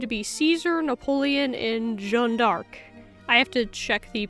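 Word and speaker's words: Jeanne d'Arc: and figures speculated to be Caesar, Napoleon, and Jean Dark. I have to check the pronunciation of that. Did the channel, how do you say it in French? It is pronounced as Jean Dark.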